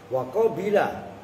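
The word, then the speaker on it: قَبِلَ: Wa qabila, bacanya wa qabila, bacanya qabla lagi.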